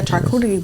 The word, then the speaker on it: charcuterie: I need to make a charcuterie board.